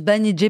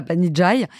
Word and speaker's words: Banijay: voilà euh on s'appelle banij ça se prononce banij pas Banijay et on va devenir